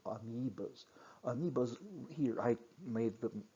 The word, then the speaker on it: amoebas: And then, next slide, animal-like protists, amoebas, OE, pronounced E, so amoebas.